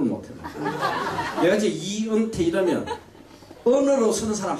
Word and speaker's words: 이은태: 내가 왜냐면 평생을 살면서 내 이름을 발음을 못해요. 내가 이제 이은태 이러면 언어로 쓰는 사람 한 명도 없어.